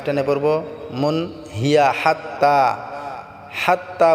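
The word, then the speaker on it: حتى: পড়বো মুন হিয়া হাত্তা হাত্তা বলতে আমাদেরকে হাটাকে গলায় চাপ দিয়ে উচ্চারণ করে তা এক আলিফ টানে পড়বো হাত্তা সালামুন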